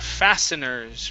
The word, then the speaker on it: fasteners: go to the word fasteners right here fasten okay the t is actually going to be silent fasteners okay okay thank